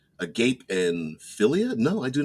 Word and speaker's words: agape: I'm going to pronounce that because I've heard it pronounced agape, but it's agape and philia.